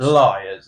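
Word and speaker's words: Lyre's: I'm gonna try and pronounce it, Chris, as Leers, I'm guessing. Liars. Liars. There we are.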